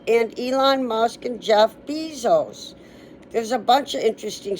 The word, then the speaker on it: Bezos: billionaire, Jeff, and it's Bezos. Yeah, Bezos. It's B like C, because I looked up, how do you pronounce Bezos? And it said it rhymes, the B rhymes with C, like I can see.